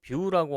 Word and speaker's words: Vue.js: 자, 그럼 Vue.js는 무엇인지 같이 한번 볼 텐데 뷰는 마찬가지로 뷰라고 하는 이름으로 발음을 하게 되고요.